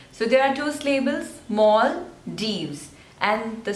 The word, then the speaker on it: Maldives: next is Luxembourg Luxembourg so there are three slavers and the stress is on the first one Luxembourg luxembourne next is